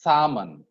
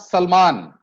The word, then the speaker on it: salmon: It's salmon. It's not Salman. It's a fish, salmon.